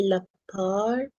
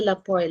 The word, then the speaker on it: lapar: And then someone tried to teach me how to say lapar, not the lapar, lapa, but I still cannot say it correctly.